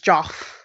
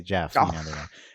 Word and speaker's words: Geoff: No, it's Jeff. Yeah, Even though like I mentally pronounce that as Joff.